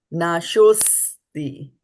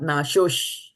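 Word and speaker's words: nāśo 'sti: Nāśosti, and not nāśosh. We'll have a tendency to say shosh, but it's not shosh.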